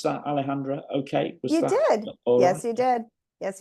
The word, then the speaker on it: Alejandra: be joined by Alejandra Alejandra Brady did I pronounce that Alejandra okay was you did yes you did yes